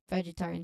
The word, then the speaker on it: vegetarian: noodle dishes that are vegetarian friendly. So the pronunciation here it has five syllables and the man and the main stress is on the third syllable vegetarian.